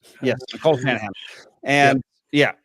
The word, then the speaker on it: Nicole Shanahan: Yes, Nicole Shanahan.